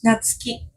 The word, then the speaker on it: Natsuki: pronunciating your name in Japanese how would look how is natski natski it's like more flat natski natski